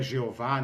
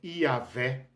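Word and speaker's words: Yahweh: me permitam não brincadeira o nome que eu posso pronunciar como yé provavelmente é a forma mais correta mais aceitável não é jeová nem Javé é yavé né embora ninguém saiba exatamente nem como eh se se escreve nem como se pronuncia Então vamos combinar que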